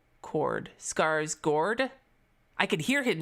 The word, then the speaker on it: Skarsgård: No, not Skarsgård. The letter A, that letter is pronounced similar to the O chord. Skarsgård. Chord. Skarsgård.